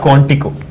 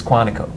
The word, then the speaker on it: Quantico: It is not Quantico. It's Quantico. Quantico. But that's how they say it.